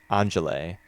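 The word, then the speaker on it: Angèle: when after Cleo and Angela leave the cafe. I don't know if I'm saying Angela's name right. It's Angele. That's how it's spelled. French. Angele.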